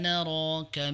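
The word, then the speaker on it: نراك: di inna minal muhsinin inna naroka knya pendek tidak dibaca inna naral tidak tapi dibaca inna naroka minal muhsin ya k-nya dibaca dengan pendek bukan panjang Q la yatikuma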